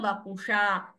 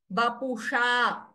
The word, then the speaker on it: वपुषा: Vapusha, sha. Your tongue is turning. Vapusha. Like how you pronounce tatha dadhana. Like that, the tongue will turn upwards. Vapusha.